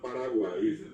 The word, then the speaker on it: Paraguay: Cuando hoy decimos Uruguay, correctamente pronunciado así como Paraguay, no es Paraguay, sino Paraguay. Que la gente hasta ahora dice Jata Paraguay.